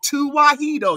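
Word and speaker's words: Tewahedo: Show me one uh clergy or any clergy in the Ethiopian tuahedo.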